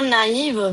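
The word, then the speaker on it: naïve: So for example look here naive and noel okay so for naive we are saying a and e separately that's why the axon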